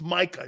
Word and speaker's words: Micah: It's Micah. He's not Mike. Mike is not like something of a nickname.